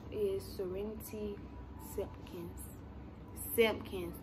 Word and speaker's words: Simpkins: Simpkins, not Simpson. Simpkins, S-I-M-P-K-I-N-S. Some people get it wrong.